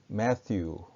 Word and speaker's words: Matthew: the gospel, 가스펠이 아니고 the gospel according to Matthew, 마테오는 영어로는 Matthew라고 발음합니다. 그러니까 마태복음 혹은 마테오 복음을 영어로는 The Gospel according to Matthew 이렇게 부를 수가 있겠죠.